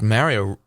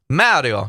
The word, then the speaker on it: Mario: mario games mario games mario mario it's italian but americans insist that it's mario they say mario it's mario mario it's italian mario and i need to